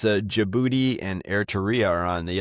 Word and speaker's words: Djibouti: on the border of Djibouti. I guess the G is silent. Yeah, the D is silent. I guess Djibouti and Eria are the two countries there in northeastern Africa.